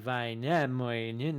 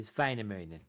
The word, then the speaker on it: Väinämöinen: In Finnish, the accenting is always on the first syllable. So it would not be like Väinämöinen or whatever. It'd be Väinämöinen. So often regarded as the